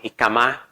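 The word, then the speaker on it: jícama: Kong in the Philippines there's also ikama as how Mexicans pronounce it have been originated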